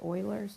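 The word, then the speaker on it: Euler: function e is that Oiler number remember it's German it's pronounced Oilers number and it's irrational like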